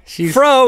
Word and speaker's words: Frau: Or Frau (pronounced "Frow") dancing.